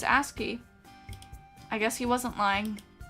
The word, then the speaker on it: ASCII: Okay, is it actually ASCII? Like ass and key?